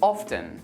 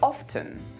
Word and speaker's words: often: T another one is often however you can also pronounce the T and say often both options are used almost equally now we already talked